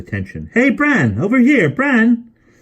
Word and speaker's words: Bran: hey Brandon over here bran he pronounced the name with a long but vowel Jane noticed like the sound inside farmer barn she had never heard